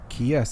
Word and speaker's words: Chiesa: Diego Sanchez, And which is how do you pronounce that? Michael Chiesa. Chiesa.